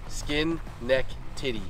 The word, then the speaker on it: Schenectady: yeah okay so honestly skin neck titty that's how you say it all morning buddy yeah